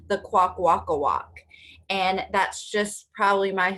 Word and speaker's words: Kwakwaka'wakw: So everyone needs to practice saying it, right? Quack, walk, walk, quack, walk, walk.